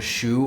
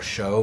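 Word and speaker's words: 熟: Sometimes in Chinese, you can have one character pronounced in multiple ways. This is one of those characters. The character shu or shou means ripened.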